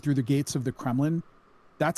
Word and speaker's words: Kremlin: Like escorted through the gates of the Kremlin. That sounds really bad, right? That doesn't sound like a pleasant thing. It rhymes with gremlin, which makes it extra scary.